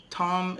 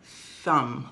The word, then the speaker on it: thumb: Tom is a name of somebody, my friend. I don't know. I don't have a friend named Tom. But this is a thumb.